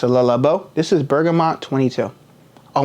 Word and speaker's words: Le Labo: Number 1 fragrance is pronounced Le Labo.